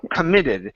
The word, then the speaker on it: committed: don't say committed it's committed because the stress is on the end of the word committed committed uhuh committed